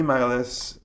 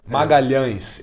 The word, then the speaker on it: Magalhães: So now the team matchup is Vinny Magalhaes. Or I think I butchered the last name. Sorry. Magalhães. It's a very nasal sound. It's a nightmare to say it.